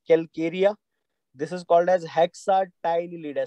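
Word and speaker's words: Hexactinellida: This is called as Calcarea, this is called as हेक्साटाइनलिडा। C silent रहेगा तो हेक्साटाइनलिडा आप याद रख लीजिए।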